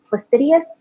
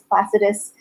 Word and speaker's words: Placidus: Some people pronounce it Placidius. I don't know where the extra I's are coming from, but if that is correct, I apologize for mispronouncing it, but I'm pretty sure it's Placidus, just based on the way it's spelled, and I've always pronounced it that way.